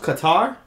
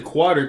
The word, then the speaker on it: Qatar: too he did those is that pronounced Qatar like some people say what would you say quarter there's no uh probably